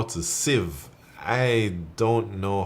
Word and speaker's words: Civ: of you I suppose I used to call it the ceve or something but after being corrected so many times now I kind of know Civ five yeah that's how you pronounce it um H I got